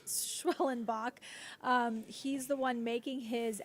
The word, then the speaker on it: Schwellenbach: So for those of you out there who see his last name and might be intimidated by how it's spelled, it's Schwellenbach.